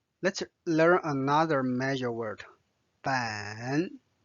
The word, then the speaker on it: 本: learn another measure word ban ban then it's a third tone again it's a major word